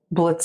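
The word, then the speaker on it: Blitzø: "How stupid do you have to blitzo?" He cut himself off in surprise. "The O is silent now. Call me Blitz."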